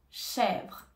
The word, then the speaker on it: chèvre: nous avons l'accent grave donc je reste sérieuse pour prononcer le E accent grave et E chèvre chèvre chèvre par exemple